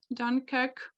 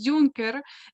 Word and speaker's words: Dunkirk: you hear like um have to pronounce uh dunkirk dunker dunkirk that's correct yeah yeah yeah yeah because in ukraine it's junker and yeah uh it's thrilling